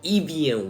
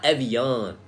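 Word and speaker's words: Evian: to pronounce it right it's called Ean not Evan okay the American way of pronouncing it is Ean y'all out of pocket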